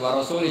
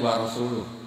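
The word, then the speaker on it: وَرَسُولُهُ: urusan dengan orang musyrik warasuli juga enggak ngurus rasulnya kalau sama Rasul saja gak ngurus apalagi sama kita sesama sayidina Ali dibenarkan yang benar bacanya itu wa rasuluh Allah Bari Minal musyrikin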